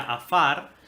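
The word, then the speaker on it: עָפָר: Fíjate, hermano, en el hebreo, la palabra polvo en la 6083, que se pronuncia afar, Dice que es polvo como desmenuzado, es decir, como cortado en pedazos, o gris.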